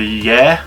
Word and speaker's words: Yare: I've only really got one match there, and that's on the River Yare, or the River Yar, depends how you pronounce it, and that's a Feeder Masters qualifier.